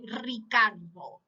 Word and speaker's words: Ricardo: i chose that name because of the letter r okay very very strong the pronunciation you say ricardo it's richard in spanish